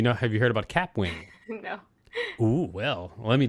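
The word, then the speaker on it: Kapwing: wrong it's actually k-a-p-w-i cap wing sorry i said kip wig and it's cap wing okay so do you know have you heard about cap wing no oh well let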